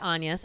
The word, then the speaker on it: Agnes: was named that but she goes by anas a it's spelled like Agnes or a n g-es or whatever and um but it's based on the story of Shakespeare's family.